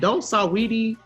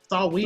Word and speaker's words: Saweetie: She spell it in a, right? Huh? Saweetie. Yeah, Saweetie. Yeah, it got an A on it.